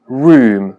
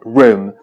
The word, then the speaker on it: room: Como ejemplo, solamente recuerdo una palabra como room, que algunas personas la pronuncian como room, con la U larga y más cerrada, y otras personas lo pronuncian como room, con una U breve y más abierta. Las dos pronunciaciones son aceptadas.